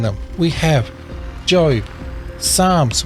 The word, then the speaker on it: Psalms: them we have Joe Psalms with the silent P Proverbs here's a tricky